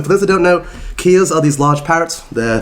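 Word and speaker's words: kea: Key Kia.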